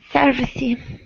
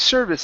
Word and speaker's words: service: And I think of companies with good or bad customer service. Let me see. Hey, remember that e at the end of service is silent. We do not say service, It's service. That e is silent.